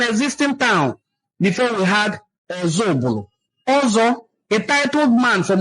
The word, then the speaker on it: Ozubulu: The Igbo in Council of Ozubulu explains that the name of their town is pronounced as Ozubulu from Oza Ubulu, and certainly not meaning another Ubulu, as often misinterpreted.